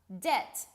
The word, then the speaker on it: debt: Debt. Notice I pronounce this word with a silent B.